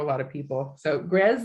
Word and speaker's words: Grzes: So Grez sounds like Pez, even though it's actually spelled G-R-Z-E. That can throw a lot of people. So Grez like Pez, Cove, and Yak.